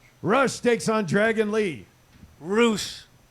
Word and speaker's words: Rush: Roosh. Roosh. Roosh. That's how you say it.